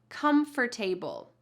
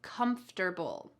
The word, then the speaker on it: comfortable: The first one is comfortable. The second one is comfortable.